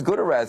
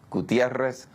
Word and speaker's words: Gutiérrez: the age of 15 about how people uh pronounce my name um but now it became important and so I said gutterz and everybody in the classroom started laughing my